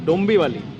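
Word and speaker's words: डोंबिवली: গাড়ি একদম বেরিয়ে গেল হালকা করে ডোমলি স্টেশন থেকে। কি ডোম বালি মনে হয় স্টেশনটার নাম, ঠিকঠাক দেখতেও পাইনি। হ্যাঁ ডোম বি ভালি, আচ্ছা ডোম্বি বালি, হ্যাঁ ঠিকঠাক উচ্চারণ করলাম এবার।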